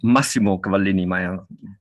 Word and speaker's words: Massimo Cavallini: live in bristol and i am chatting with cavallini is that how you say it my my name is massimo cavallini a lot of people know me as as